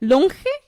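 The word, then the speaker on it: Lonje: How do you spell it? Longe? Yeah. L-O-N-J-E. Longe.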